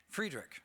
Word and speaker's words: Friedrich: Friedrich.